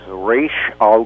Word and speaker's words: Ra's al Ghul: be forever, banished, is, what is the proper pronunciation for Batman's arch-villain that you created? According to a language teacher at UCLA, who was asked that question by my daughter about 15 years ago, it is Raish Al Ghul.